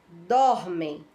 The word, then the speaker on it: dormem: Então, nós já sabemos que a sílaba tônica é a sílaba dor, né?